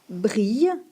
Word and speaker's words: brille: élan allez par contre brille qui a aussi deux ailes se prononce avec le Son i comme bille et quilles on dit qu'un endroit